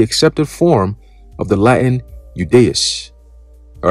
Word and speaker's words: Judaeus: Okay, when it is the first letter in words like yes, youth, or yacht, the I in Judaeus is pronounced like the Y in yes, youth, and yacht in English.